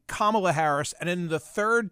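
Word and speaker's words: Kamala: is the fact is her name is kamla but if you call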